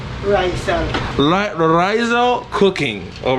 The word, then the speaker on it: Raizal: It's pronounced Raizal? Raizal.